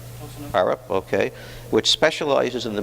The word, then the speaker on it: Arup: Am I pronouncing that right? Arup, okay, which specializes in the built environment, and